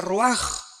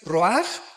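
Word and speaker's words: ruach: Aquí se usa otra palabra hebrea que es se escribe roach con R de Raúl A. Se pronuncia roaj. Por ejemplo, cuando hablamos del Espíritu Santo, el Espíritu Santo es roaj, el cadosh.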